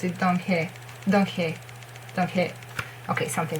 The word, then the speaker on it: Donghae: Donghae. Okay, something like that. Donghae. But not Donghae. Donghae. Okay? There is the word that ends. There is not E sound.